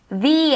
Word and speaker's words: the: que começa com TH, a gente tem que colocar a ponta da língua no dente para fazer esse som soprado.